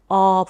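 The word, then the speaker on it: 어부: Then Eobu, Eobu, you open your mouth much wider than for O(ㅗ) and U(ㅜ) and make Eo(ㅓ).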